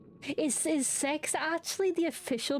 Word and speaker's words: CeX: Like I did I I would never have looked at that and thought it's pronounced sex because it's a C and most C's in the UK are are are hard.